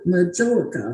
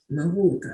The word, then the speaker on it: majolica: Is it majolica or majolica or what? I always say it's easiest to remember when you think of Mallorca, Spain, Mallorca. Mallorca.